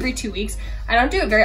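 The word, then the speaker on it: Ouai: from ulta and i love it it's the wee hair care line and i love the wee hair care line it's spelled o-u-a-i kind of weird but it's a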